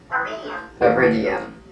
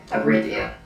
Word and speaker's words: iridium: is chemically and physically an otherwise unremarkable sample iridium metal. If I'm saying that correctly. No, that's not in the file. Pronunciation. Iridium. I was saying that incorrectly. Iridium.